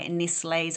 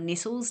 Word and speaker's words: Nestlé: Yum, they sound so delicious by Nestlé's or Nestles, depending on how you say it.